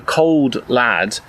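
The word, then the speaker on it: Cauld Lad: He's known as the Cold Lad, although spelled Cauld, It's which cold I'm guessing lad.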